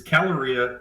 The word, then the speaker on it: kCaloria: So actually, the K is silent. So it's caloria.